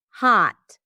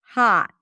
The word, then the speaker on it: hot: And just like I said, it sounds just like an open a sound in American English. Hot. Hot. Hot. So yes, in British English, it would be closer to hot. Hot. Hot in American English. So there is no rounding of the lips.